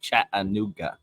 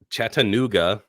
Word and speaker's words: Chattanooga: say how' I say you just put like a lot of syllables in there you're like chat anoa dude I'm seriously like